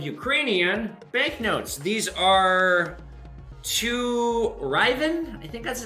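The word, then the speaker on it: hryvnia: These are to Ryven. I think that's how it's pronounced. It starts with an H. It's like Hyrven.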